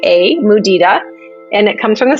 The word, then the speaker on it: mudita: find most people do not know this word it's spelled m u d i t a muda and it comes from the Sanskrit language and